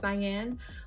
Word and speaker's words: Nyane: This is Nyane. I feel like that's how we say her name. It's Nyane.